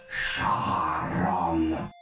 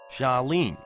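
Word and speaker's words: Charon: got it all wrong it's pronounced Shon that's spelled c h a r o n see it's simple now you say it shene no you idiot my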